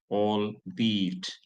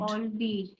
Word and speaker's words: albeit: The pronunciation of that word is albeit. Albeit. All be. Yeah, it's not albeit, it is albeit.